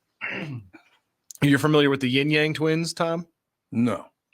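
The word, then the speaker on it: yin yang: most people don't understand it's not yinyang it's yinyang oh well they spell it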